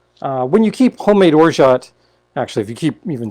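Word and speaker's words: orgeat: t it's o-r-g-e-a-t um i pronounce the t uh i i know a number of people that do not and it's or jay or or joe i don't know uh but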